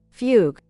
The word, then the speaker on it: fugue: Oh, I have never Oh, fuge or how is that? How is that pronounced pron? Let me Google it. Pronunciation. Yeah, fuguge. Fugue. Oh, fugue.